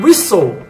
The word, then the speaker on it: whistle: Castle de castelo e whistle que significa apito então do mesmo jeito como no Manso a gente não pronuncia o t a gente vai deixar